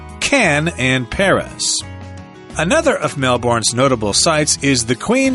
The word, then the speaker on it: Melbourne: talk to any Australians, you'll discover that it's actually pronounced as if it's spelled B-U-R-N, Melbourne.